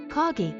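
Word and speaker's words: 陰: By the way, Kage is pronounced the same as the Japanese word shadow.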